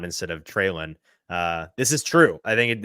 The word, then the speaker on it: Treylon: PK is going to backhand you for the way you just pronounced Treylon instead of Treylon.